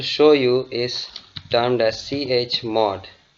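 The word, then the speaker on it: chmod: you is termed as CH mod it's basically pronounced as chod and its full form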